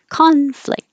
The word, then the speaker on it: conflict: just stopping the airflow conflict if it's the verb the stress is on the second syllable and now the c-o-n doesn't sound like ah it sounds like uh conflict in the same position